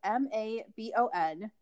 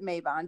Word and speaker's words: Mabon: so maven is spelled m-a-b-o-n so here in america we pronounce it mabon because we like that drawn out a sound we love it we